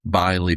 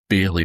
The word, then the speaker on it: Byley: And we know that our hero, Seth Butler, had encountered the Byley Bogart. Not the Bailey Bogart, as I said last time. Apparently, I was pronouncing that wrong.